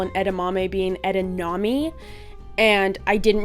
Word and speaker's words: edamame: hi can i get edanami please and they laughed in my face and told me that it's pronounced edamame and that i was an idiot because there's not an n anywhere in that word and so i was